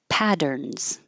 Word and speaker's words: patterns: Patterns, those two T's will sound like a D. Patterns, and the S sounds like a Z.